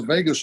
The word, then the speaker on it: vagus: And your 3-step process is a way of stimulating that vagus nerve. By the way, that is pronounced like Las Vegas, but it's spelled VAGUS for those who may not have heard that term before.